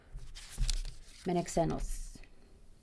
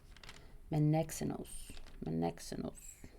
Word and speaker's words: Menexenus: Menexenus. The emphasis is on the second E. So M-E-N and then an emphasis E and then X and then enos. Menexenus.